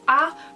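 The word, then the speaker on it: ㅏ: going to show you this one is ah pronounced like that ah so this one is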